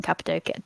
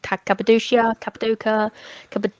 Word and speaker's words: Cappadocia: do the balloons in Cappadocia, Cappadocia. Cappadocia. Yeah, everybody Everyone says it pronounces a it little bit different.